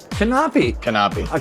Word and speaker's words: Knape: How do I pronounce that last name? Knape. Knape.